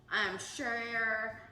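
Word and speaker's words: cher: Share, love, it's C-H-E-R, but sometimes we pronounce it S-H-A.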